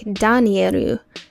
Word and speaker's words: Danieru: The way he pronounced it in Japanese sounded like Danieru.